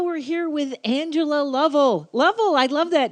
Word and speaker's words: Lovell: right level right yes i love you pronouncing my name correctly i actually met a level who pronounces her name lavelle and she's in the